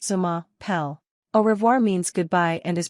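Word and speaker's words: je m'appelle: is pronounced bone zor J mapel means my name is and is pronounced Zuma pel orir means goodbye and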